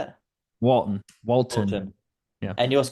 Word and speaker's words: Walton: right Javon W Walton yeah Javon Javon W walon that's how you say it Walton Walton yeah and you also got manano main